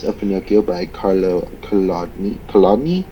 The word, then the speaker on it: Collodi: Collodi, I believe is how you pronounce his name.